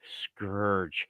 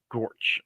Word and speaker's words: scourge: I was like it's Scourge she was like this word right here I'm like yeah it's pronounced Scourge not scorch like you're saying it looks like he's